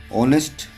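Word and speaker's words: honest: तरह से यहां पर नेस्ट लिखेंगे तो इसमें साइलेंट हो जाएगा ऑनेस्ट उसी तरह से यहां यहां लिखेंगे ओनर लिखेंगे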